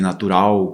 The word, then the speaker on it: natural: relação ao espanhol, porque o nosso L brasileiro de natural, principal, central, ele tem som próximo de um U, um suave U ali, né?